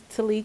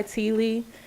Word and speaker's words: T'Lee: everyone my name is Tilly I go by Tilly believe it or not my mom and dad argue to this day on how to pronounce it so you can't go wrong I definitely want to thank mr.